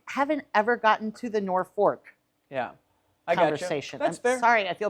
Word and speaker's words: Norfolk: but it's like Virginia most people pronounce it nor fork um yes those who